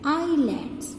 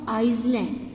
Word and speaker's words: islands: Student, in this word s will be silent, so we will pronounce this word as islands, not Iceland.